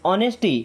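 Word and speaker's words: honesty: Then ऑनेस्टी। एंड अब देखिए यहां पे एच साइलेंट है। ओके? ऑनेस्टी।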